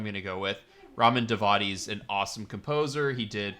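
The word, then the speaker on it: Djawadi: It's pronounced Davadi, Ramin Davadi, according to Wikipedia. So that's what I'm going to go with. Ramin Davadi's an awesome composer.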